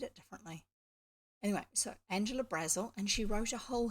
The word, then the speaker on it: Brazil: And yes, it looks like Brazil, the name of the country, but it's actually pronounced Brazil, probably because she was going to get hassled by people at school.